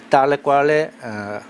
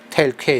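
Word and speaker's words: tale quale: 시기에 관한 조건 중 달레과레 영어로는 테일퀘일 텀즈 조건에 관한 설명으로서 가장 적합한 내용이 되어 있는데 달레과레는 이제 불어가 되겠어요. 불어 영어로는 이제 테일퀘일 이렇게 발음을 하고요.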